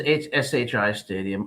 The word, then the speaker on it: SHI Stadium: Are you saying Shy Stadium instead of She? I don't know. Schiano says SHI Stadium. I will pronounce I like SHI.